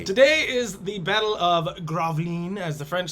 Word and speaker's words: Gravelines: say, and it's spelled Gravelines. But I think it would. How do we say it? I think it's Graveline. Graveline? The E's probably pronounced Graveline. We'll probably call it Graveline.